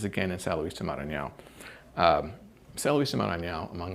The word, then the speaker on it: Maranhão: I was walking by there, and by the way, you pronounced Maranhão very well.